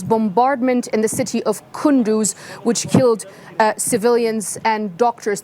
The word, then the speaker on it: Kunduz: Okay, all right, we did have video, and it basically repeated everything I said to you, except that that area affected is pronounced Kunduz.